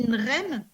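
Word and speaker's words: غنم: Quand on dit « nrem », le bétail, par exemple, c'est le guimel qui se prononce « re ». On ne le prononce pas « ngem », on dit « nrem ».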